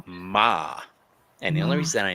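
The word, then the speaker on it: 马: It's ma.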